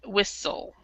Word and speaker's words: whistle: L is s the the t is silent whistle would that whistle on